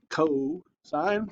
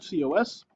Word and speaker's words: cosine: Cosine, C-O-S. Cos is not how you say it. It's cosine.